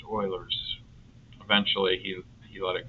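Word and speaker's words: Euler: And then the other one was Oiler. It's spelled Uler, but it's pronounced Oiler again French. And I would say, uh, do we do we use Uler's method? He's It's pronounced Oilers.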